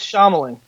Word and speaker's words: Shyamalan: silently pronounced it was emotionally or the names pronounced her whisper Schneider says Shyamalan M night Shyamalan nope that's wrong he says